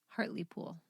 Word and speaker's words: Hartlepool: halfway through the day england how do you pronounce it again hartley pool hartley pool so directly next to heart heartile